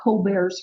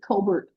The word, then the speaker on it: Colbert: Native Americans and um since he was British we generally say Colbert French pronunciation would be Colbear and Arkansas Post was loaded with French around the time.